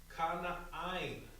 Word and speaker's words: Canaan: All right, now in the Hebrew, this is going to be pronounced with this is going to be pronounced Kana'ain.